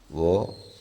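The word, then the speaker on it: وہ: വോ, യ, തു, തും, ആപ്, മേം, ഹം. ഇവിടെ എഴുത്ത് വഹ് എന്നായിരിക്കും. ഉച്ചാരണം വോ.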